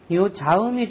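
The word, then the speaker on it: ざ: 사 이렇게 발음이 벌어지는데 자 발음은 혓바닥이 위 붙어야지 됩니다 사가 아니고 자 해서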